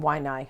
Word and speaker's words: Waianae: am speaking to Glenn Arakawa, who lives in Waianae, Hawaii. How do I do with those pronunciations?